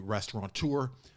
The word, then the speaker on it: restaurateur: Starring Stephen Graham as the restaurateur. Big night at his restaurant. It's pronounced restaurateur. Restaurateur. Directed by Philip Barantini, and